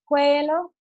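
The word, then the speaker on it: cuello: any idea where way way low a double l sorry L is pronounced like a yeah noise y-yeah so you'll notice that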